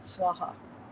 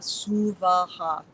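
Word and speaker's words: स्वाहा: You'll hear it a lot, Swaha. No. Swami Kaleshwar said that's an insult to the energy of Gayatri. She is Om Bhur Bhuva Suvaha. 3 separate equal syllables.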